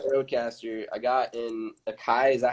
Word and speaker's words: Akai: I got in Akai.